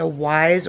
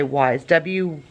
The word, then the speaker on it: Wyze: It's a wyze, or I believe you say wyze, W-Y-Z-E is how it's spelled.